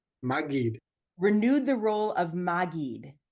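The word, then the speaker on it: מַגִּיד: Maggid with a hard G. Maggid.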